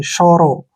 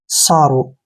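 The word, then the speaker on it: sorrow: आर ओ डब्लू देखिए एस ओ का उच्चारण श के रूप में करते हैं ऐसे श शो और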